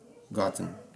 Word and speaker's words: gotten: Particípio: gotten, gotten. Tá? Aqui, novamente, o fonema da letra E você abole, tá? Então fica gotten, ok?